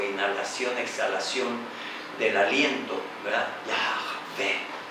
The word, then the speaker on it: Yahvé: le revela su nombre, el que es, ¿verdad?, Yahvé, que es como un aliento que no tiene una palabra formal, sino que es como la exhalación, ¿verdad?, o inhalación, exhalación del aliento, ¿verdad?, Yahvé.